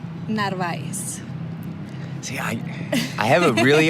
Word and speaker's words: Narváez: Narváez.